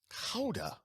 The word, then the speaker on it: Gouda: Well, speaking of which, when I went to Gouda to get the Gouda cheese in Holland, it's not called Gouda. Do you know how they pronounce it? I don't. Gouda. Howda. Gouda.